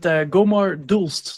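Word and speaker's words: Gommaar d'Hulst: There's no English translation, but Gomar Dulst. So the D apostrophe H is one go.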